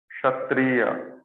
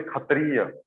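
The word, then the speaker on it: क्षत्रिय: Like kshatriya. Tra will also come. Kshatriya. Okay, it's not Kshatriya. Some people say Kshatriya. Some people say Khatriya. Okay, because mostly in Odisha, they pronounce it Khetra.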